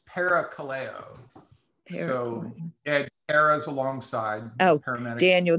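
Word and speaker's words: parakaleo: or um it's it's para Kaleo so yeah Cara's alongside Daniel just wrote it on the thing thanks Daniel Kaleo sounds like call okay I just wanted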